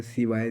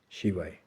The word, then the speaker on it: शिवाय: मिलता है अब जैसे ओम नमः शिवाय शी श तो कई लोग आपको बहुत सारे मिलेंगे सिवाय सिवाय सिवाय उच्चारण का मैं किसी को गलत नहीं सही नहीं बोलूंगा यहां से अ विवाद करने का कोई भी उद्देश्य नहीं है लेकिन शिवाय ओम नमः शिवाय जितना